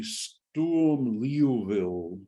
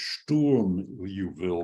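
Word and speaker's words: Sturm–Liouville: then is called a stool leoville problem this is an awkward name to pronounce because actually it's storm you will because this is German and that's French um and um it's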